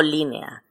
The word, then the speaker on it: línea: pronuncian en diferentes sílabas Por ejemplo si digo línea digo l nea laa se pronuncian en diferentes sílabas o por ejemplo la